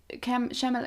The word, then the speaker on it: Chalamet: I had Timothy Chalamet. I don't know how to pronounce his surname.